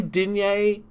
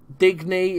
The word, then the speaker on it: Digne: I'm going to say Digne. Digny, if you want to pronounce English.